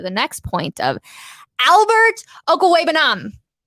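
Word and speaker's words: Okwuegbunam: next point of Albert uncle webenom that is that is how you say it for for those who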